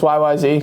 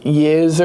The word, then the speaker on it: YYZ: Oh, it's just YYZ? Yeah, it is. Oh, okay. I was going to put the title up here because I wasn't sure if it was like Yiz or something.